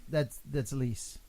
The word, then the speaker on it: Lys: No, that's Lis.